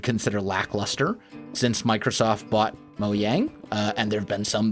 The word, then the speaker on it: Mojang: He also made a point that updates don't matter, that Microsoft, when they bought Mojang is the proper pronunciation, when they bought it, updates no longer really matter.